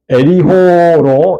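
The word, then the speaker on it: יריחו: 여리고는 뜻이 그런 뜻이에요 히브리어로 리호 이렇게 발음을 해요 그런데이는 종료의 성읍 달의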